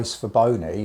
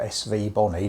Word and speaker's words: Svbony: About 3 weeks ago I was approached by Svbony, or Svbony, depending on how you want to pronounce it, who were asking me